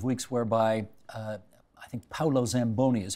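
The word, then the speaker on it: Paolo Zamboni: last couple of weeks whereby uh I think Paulo Zamboni is how he pronounces his name he's got you know he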